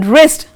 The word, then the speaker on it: wrist: Then in wrist, here also the W is silent.